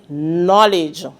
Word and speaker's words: knowledge: The word is knowledge. Let me say that word again. The word is knowledge. Which letter in the word knowledge is silent? We're hearing knowledge. Right. The letter K is the silent one.